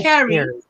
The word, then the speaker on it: Kari: Ooh, she says my name is spelled like Carrie, but no, it's pronounced like Carrie. Oh, it's Carrie. But spelled Kari.